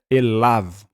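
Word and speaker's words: אֵלָיו: bem aqui esse Av lembre-se que não precisamos pronunciar o yod aqui ele é mudo então é elav para el e Av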